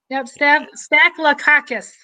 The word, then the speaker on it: Staphylococcus: Staphylococcus is how you say that.